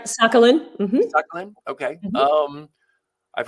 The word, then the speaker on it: Sakhalin: That's right, Sakhalin. Mm-hmm. Sakhalin. Okay. Mm-hmm. I've heard it pronounced different ways.